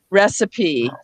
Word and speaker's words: recipe: So we do have some words where the E is pronounced. We have apostrophe, simile, recipe.